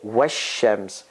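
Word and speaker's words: والشمس: The article goes away in pronunciation. It's written is there in pronunciation. So you say wash-shams.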